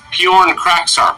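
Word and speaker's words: Pyornkrachzark: It's actually pronounced Bjorn Kraksark.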